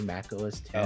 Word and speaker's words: Mac OS X: comment you're saying Mac OS X it's actually Mac OS 10.